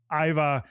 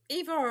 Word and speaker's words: Ivar: Well, I always here's the thing, that the Old Norse I in English and the Scandinavian I is pronounced E, like the letter E in English.